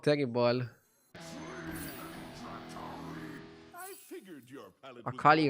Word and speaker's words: Akali: I figured your palate Akali rhymes with Rakari.